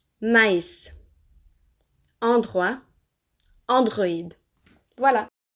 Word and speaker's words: maïs: Il sert généralement à indiquer qu'on doit séparer la prononciation de 2 voyelles qui sont collées. Écoutez la différence. Mais, maïs.